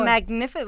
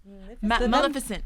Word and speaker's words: Maleficent: Magnificent. What was the movie? Magnificent. Maleficent. Maleficent. Yes. There we go. Can't pronounce it.